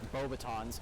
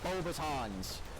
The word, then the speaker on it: Beauxbatons: How do you not know how to pronounce Beauxbatons? It's Beauxbatons. You want to get technical, it's Beauxbaton. Better.